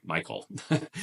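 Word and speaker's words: Michal: daughter of King Saul mishal or we sometimes pronounce her name Michael so Michael loves David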